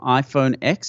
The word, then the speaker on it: iPhone X: I believe it's Apple iPhone X is a correct eight it's about X but it's actually pronounced ten so it's like the Roman numeral is X - 10